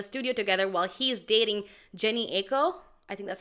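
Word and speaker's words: Jhené Aiko: cozy in a studio together while he's dating Jenny Aiko. I think that's how you say it. Janae Aiko.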